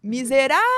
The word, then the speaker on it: miserável: E aí você vai e fala assim, miserável. Repararam que eu me delonguei mais no rá?